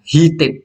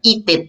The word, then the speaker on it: heated: In a, nah ini harusnya ya teman ya, bukan an tapi nah karena heated bacanya h kan ya. konsonannya dibaca heated bukan eated.